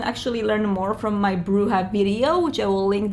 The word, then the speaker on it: Brujah: into the bruja clan or actually brujah as this game closes but we're going to keep the new modern pronunciation which was propagated by bloodlines one which is bruja I could really understand